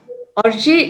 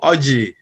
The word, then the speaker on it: Orji: We have Dr. Orji, if that's the correct pronunciation. Yes, you got it. Hi, everybody. Hello. My name is Orji.